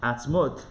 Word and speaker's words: Atzmus: Atzmus, or with the Sephardi Havara, Sephardi pronunciation, is Atzmut.